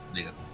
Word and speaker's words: Lita: Lita. Um, I gotta just remember it rhymes with Frida.